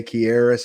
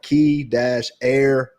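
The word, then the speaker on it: Kearis: pronounce their name sheet, it did say Kieris, and I was saying that right the entire time. It was like key-air-is.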